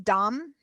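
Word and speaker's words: דם: So the word for blood is dam, phonetically D-A-M, dalet, mem.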